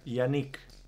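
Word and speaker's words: Jannik: you the name okay Yanik Yanik wow but with J with with J okay yanic j a n i k hey now now it's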